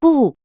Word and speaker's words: 不: When 不 is followed by a syllable in the fourth tone, it changes into the second tone. 不会，不是，不看。